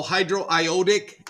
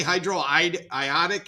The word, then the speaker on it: hydroiodic: would hi be and don't say hi Hydro ioic acid okay Hydro ioic not because they because it's iodine so they emphasize the O So hydroiodic acid uses the same basic pronunciation again if you write H